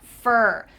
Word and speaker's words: for: that's what happens so this is gonna sound like f e are fer kind of sounds like the fur of an animal which is fu art but same pronunciation fer two weeks I've been